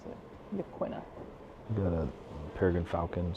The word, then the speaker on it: Yaquina: isolated community at Yaquina Head.